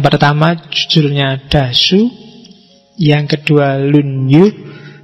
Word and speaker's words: Lunyu: Yang pertama judulnya Dasu, yang kedua Lunyu, bacanya misah ya, kalau disambung jadi Lunyu.